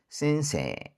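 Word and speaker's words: 先生: 그다음 애가 붙는 장음은 에죠. A라고 뚜박뚜박 있는 경우도 있습니다. 그래서 듣다 보면 A라고 할 때도 있고 에라고 할 때도 있습니다. 센세 센세.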